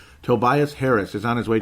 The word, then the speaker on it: Tobias: Tobias, as I'm going to say it correctly. I always call him Tobias. It's Tobias Harris, and I knew it's wrong, and I just could not correct myself, for cripe's sake.